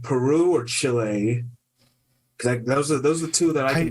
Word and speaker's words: Chile: towards Chile but um it's Chile not chili not like not not chili cheese dog it's Chile Chile there's a country in